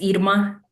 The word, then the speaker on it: Irma: I always tell people it's like ear.